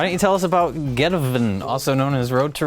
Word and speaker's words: Geteven: Because that's the title. It's one word. Geteven. There's no space in.